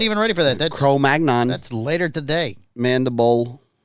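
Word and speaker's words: Cro-Magnon: by the way uh this is the new chrom mag non mandible Mastadon oo non mandible using no oh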